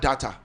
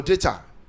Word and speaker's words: data: Every time we talk about data. Or data. Because I pronounce it like Ibadan man. That I am. No, data. It is correct. Data is American pronunciation. Okay. Data is British. Is British pronunciation.